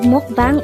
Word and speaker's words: 먹방: is a two-syllable word the first syllable is mock the second syllable is pronounce it with me the word mukbang is a korean noun